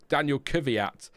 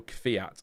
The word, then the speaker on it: Kvyat: But a bit like I called Daniel Kvyat. I called him that for years, but then it was Daniel Kvyat.